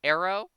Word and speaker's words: Aero: fire Elemental we have Arrow who uh is spelled like aerodynamics a e r o um he has access